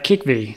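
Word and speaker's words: Kikhvi: here so it's a apologies again for the pronunciation was a kick V so k i k h VI I oh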